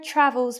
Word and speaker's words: travels: And our next example, Sarah travels business class. And where did you go for your travels? The stress is in the same place. Travels, travels, travels. At the beginning of the word.